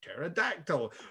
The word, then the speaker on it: pterodactyl: And they're like, this is a triceratops, and this is a diplodocus, and this is a pterodactyl. It's spelt with a silent P, though.